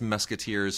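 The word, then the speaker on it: Mesquiteers: That's Musketeers spelled like Mesquite, M-E-S-Q-U-I-T-E-E-R-S.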